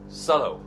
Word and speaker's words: subtle: So today we have subtle as the keyword, and don't pronounce the B.